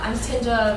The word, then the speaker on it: Tinja: And so I'm Tinja, rhymes with ninja.